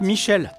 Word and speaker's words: Michel: Au revoir, Michael. Ça se prononce Michel, écoutez bien.